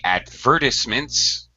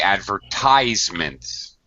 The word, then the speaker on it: advertisements: advertisements the noun um we use different stress British English and American English British say advertisements um and they stress a second syllable Americans say advertisements we stress the third syllable advertisements uh so that's